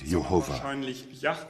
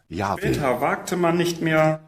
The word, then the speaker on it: Yahweh: Mas na Bíblia amplamente distribuída Elberfelder, nós lemos: The Israelites never said Jehovah, but in all likelihood Yahweh.